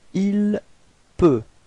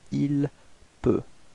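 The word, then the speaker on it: il peut: Ilp. All right. So, same way of pronunciation. You've got T at the end, but then you don't pronounce it. Ilp.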